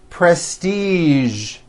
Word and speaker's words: prestige: casual television very good now there are only a few words that have the voiced z sound at the end a few of these words are the color beige the word massage and the word Prestige okay now that you